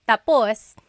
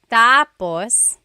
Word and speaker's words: tapos: So when it's tapos when the emphasis is at the end tapos that means finished. When the emphasis is on the first syllable tapos then it means next.